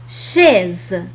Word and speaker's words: chaise: حينما يأتي بعدها حرف H تنطق كحرف الشين. مثال على ذلك chaise. chaise. إذن دائما بعد حرف C حينما تأتي بعده حرف H تنطق كحرف الشين شيز.